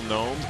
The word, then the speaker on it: gnome: Do you know how to spell Gnome? You didn't do very well with Mikhailu. There's a silent G.